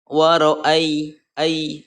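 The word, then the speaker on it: وَرَأَيْتَ: berharga sebelumnya berharokat fathah cara membacanya lunak lembut dan pendek ya bacanya pendek Waro Ayi tak Warai Ita jangan dibaca panjang ya Nah mengenai dibaca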